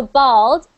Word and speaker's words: bald: is no hair so bald no hair this is pronounced like this a ba bald bald now bold which is